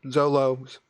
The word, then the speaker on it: Zolos: Said, I'm going to say Zolos. Was a good character. Rhymes with Bolo, Zolos.